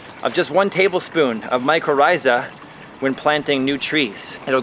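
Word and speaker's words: mycorrhiza: or micro rise every everyone pronounce it differently microa is what I say it looks like this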